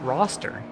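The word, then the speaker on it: Worcester: um it's in Boston it's pronounced roster sure yeah a lot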